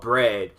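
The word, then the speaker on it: Bred: those would be called Bread, which is black and red put together. It's not spelled like bread, like food. They spell it B-R-E-D.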